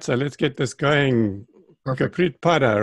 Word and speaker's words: Gurpreet: Gurpreet Padda, right? That's the right way to pronounce Gurpreet, it? Yep, perfect. Gurpreet.